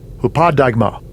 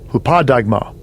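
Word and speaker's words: ὑπόδειγμα: The pronunciation in the Strong's G. Strong's G 5262. Hupadigma. Hupadigma.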